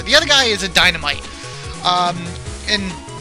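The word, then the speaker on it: Dynamyte: other guy is a dynamite um and instead of spelled like a normal Dynamite it's m-y-t-e it's like bite like they did before so what he's gonna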